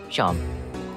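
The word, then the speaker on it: Seam: The name's Sharm, pronounced Sharm.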